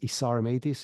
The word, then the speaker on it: Isar Meitis: LinkedIn that's the best place my name is isar mtis it's spelled i s a r m i t i s it's a really mouthful of name that nobody can pronounce but I'm the only isar Mattis on LinkedIn so that's there's a benefit to